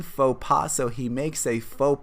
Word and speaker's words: faux pas: like a social mistake make sure that you pronounce this correctly it's a french expression faux pas so he makes a